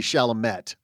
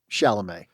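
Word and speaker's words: Chalamet: got the pronunciation yeah it's exactly how it's spelled shalam shalam well how it's spelled should be shamet but shalam our apologies to Timothy shalam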